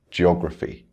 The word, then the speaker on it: geography: Words ending in phi, geography.